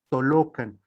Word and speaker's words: Tolocan: Es por eso que hay esta confusión, incluso ahora yo podríamos pensar en el paseo Toyocan, y pensar a lo mejor cambiar la pronunciación y decir en todo caso paseo Tolocan, porque justamente a eso se refiere, a esa pronunciación de una L larga, ¿sí?